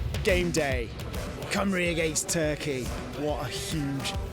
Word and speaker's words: Cymru: I said Caimru. Yeah, what he means is FC Cymru, which is where we're getting a package from.